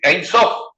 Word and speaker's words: Ein Sof: Perdón, de Yan Suf, no, del Ein Sof, que se pronuncia igual.